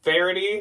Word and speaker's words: Verity: on the channel again but then I finally found out how to say it Verity soft plaid button flannel